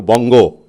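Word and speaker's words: বঙ্গ: So Vanga, which was a secondary, would now subsume or would enlarge its identity, Vanga, into Bongo, as a Bengalis pronounce it, Bangla, Bongo.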